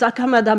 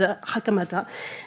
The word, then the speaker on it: 袴田: Everybody says Hakamada, but the real pronunciation is Hakamata.